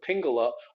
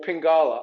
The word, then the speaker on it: pingala: this other nadi it's called the pingala or pingala i've heard it pronounced both ways by critical credible sources um starts in the